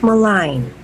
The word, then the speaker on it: malign: we do not pronounce or say G sounds in these words so come on please